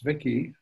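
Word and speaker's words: Zwicky: ztf the zviki in honor of ziki it's vicky not hard name to pronounce but a remarkable astronomer is the current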